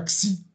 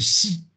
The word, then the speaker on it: Xi: Ping le président chinois c'est pas XI il a jamais XI en chinois c'est juste on a utilisé le X pour prononcer un espèce de chuintement qui voilà c'est si siing ping voilà quand vous